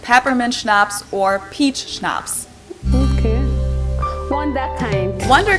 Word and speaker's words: Schnapps: we don't even have in German zeitgeist hey schnapps this one I also mentioned in my video